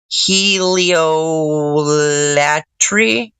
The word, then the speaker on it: heliolatry: Heliolatry. Pronounce it kind of like how adultery, heliolatry.